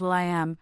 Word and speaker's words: will.i.am: 15 1975 known professionally as Will I Am pronounced Will I Am